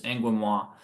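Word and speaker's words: Angoumois: flower moth uh your angua grain moth it's pronounced kind of like it's French it's angam grain moth they're the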